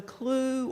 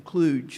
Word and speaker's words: CLUE: for Economic Justice, and I always tell people the J is silent, because how would it be if you said you were from Cluj? That doesn't sound very good.